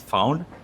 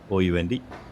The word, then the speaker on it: Phound: The company name, what Dave founded, is Phound. It's spelled as Phound. So it sounds similar, but don't get confused for the listeners itself.